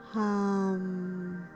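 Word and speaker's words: Ham: So it's spelled H-A-M, H as in happy, A as in apple, M as in Mary. So hum.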